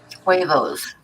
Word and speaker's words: huevos: I guess the H is silent. Huevos. Huevos? Huevos, yes.